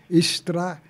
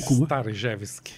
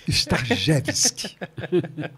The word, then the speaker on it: Starzewski: É Stravinsky. Não. Como é o nome? Starjevski. Starjevski.